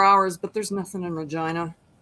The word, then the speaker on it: Regina: i could get to regina in four hours but there's nothing in regina it's the town they say rhymes with fun yeah i was gonna